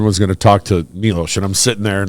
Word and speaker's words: Milos: decision wait a minute is your name milosh or Milos Milos okay so I've been saying it wrong everybody is we start